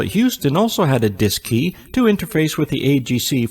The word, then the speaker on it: DSKY: digital display and keypad known as the dsky pronounced disk key on board both the cm and lm mission control at houston also had a disk key to interface with the